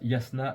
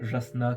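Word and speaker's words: Jasnah: de l'érudite Yasna euh parce que oui ça se prononce Yasna et pas Jasna comme comme comme comme comme on est tenté de de le lire euh donc oui en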